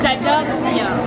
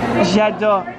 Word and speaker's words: J'adore: This one is J'adore. J'adore. Okay. Não é? Então, olha aqui, eu mostrei a foto pra ela. Where are you from? So, J'adore.